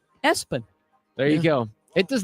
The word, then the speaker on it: ESPN: linebacker Gideon ESPN lampron his family pronounces it espen there you go it